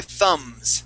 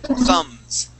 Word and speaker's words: thumbs: these these are your thumbs okay but the B is silent we do not pronounce the b the B is silent thumbs thumbs thums thumbs thumbs thumbs one